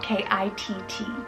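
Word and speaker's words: Kitt: Then I have Kit, spelled K-I-T-T, Kit.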